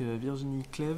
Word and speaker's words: Virginie Cleve: day ici à anger donc je suis avec Virginie CLEV c'est comme ça qu'on prononce c'est comme ça qu'on prononce gérante donc